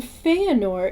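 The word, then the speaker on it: Fëanor: And then Feanor is Fe-anor, because when you have the umlaut above the E, it does change the E to an A sound, as I said up above.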